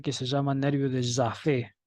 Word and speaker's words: Jaffe: Hay un ramo del nervio facial que se llama nervio de Jaffe, con J y con doble F, acento en la E.